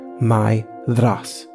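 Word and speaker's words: Maedhros: is pronounced something like Myas with the accent on the first syllable and a voiced th as in bother there upon or loathe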